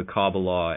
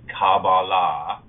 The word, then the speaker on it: Qabalah: Kabbalah, spelled with a K, which is pronounced Qabalah, the way people have been conditioned to hear it, really refers to what